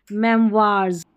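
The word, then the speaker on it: memoirs: ओ आई का उच्चारण निम्नानुसार कुछ शब्दों में वा भी होता है, जैसे मेमवार्स, रेपर्टवार, यह है रेपर्टवार।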